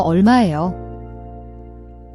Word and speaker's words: 얼마예요: The R/L in can be tricky. It's a soft L sound, like the L in fall, not a hard R.